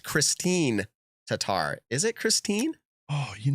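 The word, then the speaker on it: Kristin Tattar: huge bonus either way hey americans it is pronounced christine tatar is it christine oh you know what i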